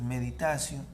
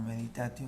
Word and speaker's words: meditatio: Esto es meditatio, no meditatio, es meditación.